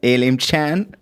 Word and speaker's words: Elim Chan: ELIM CHAN. Did I pronounce it right?